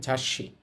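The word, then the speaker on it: 雑誌: অভিধান তারপর হচ্ছে ঝা ছোট সু আছে ছোট সু উচ্চারিত হবে না পরের বর্ণটা ডবল উচ্চারণ হবে তাহলে এটার উচ্চারণ হবে ঝাসি ঝাসি অর্থ হচ্ছে ম্যাগাজিন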